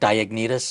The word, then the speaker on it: Diognetus: By the way, I just want to let everybody know, I don't even know how to pronounce the name. Is that correct, Diognetus?